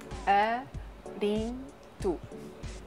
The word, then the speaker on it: Arinto: And another white grape variety is Arinto. Arinto. That's easy.